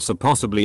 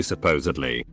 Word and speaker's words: supposedly: all that schooling to still come out and pronounce these words wrong I remember when my grandparents corrected me when I said so possibly and I had to actively be aware every